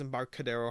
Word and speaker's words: Embarcadero: to um and barcelona embarcadero i think it's how you pronounce it i'm pretty sure it's embarcadero hard c uh before we cover